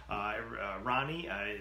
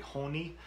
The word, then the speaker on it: Ronnie: Ronnie, the Portuguese pronunciation is probably Honi or Hon.